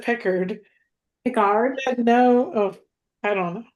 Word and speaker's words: Picard: He said there is no erd. Picard. It's ard.